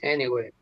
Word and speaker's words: anyway: La A, Thanks anyway. la A se va a pronunciar como una E en esa palabra.